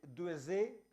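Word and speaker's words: Duèze: Jacques Duezé, o Duezé, nació, ¿cómo se pronuncia en francés?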